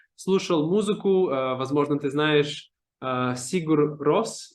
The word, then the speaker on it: Sigur Rós: Возможно, ты знаешь Сигур Рос. Я не знаю, Да, как Sigur это Rós.